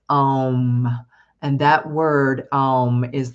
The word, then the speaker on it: Om: We spell it O-H-M, but it's really like A-U-H-M. It's Om.